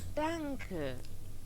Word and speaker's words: Danke: Danke. Danke. It almost sounds Mandarin. Danke. Danke. Danke. Danke. See, I knew it wouldn't be donkey.